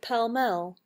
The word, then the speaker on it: Pall Mall: hard to tell why it's Pall Mall but pal Mel muscle muscular jail iron